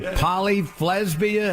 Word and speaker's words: Polyflesbian: Polyflesbian. It's like lesbian with an F.